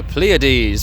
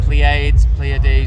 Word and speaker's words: Pleiades: We've got Pleiades, obviously being the correct one. Pleiades was another one. The stage manager said, "Are you Pleiades today?"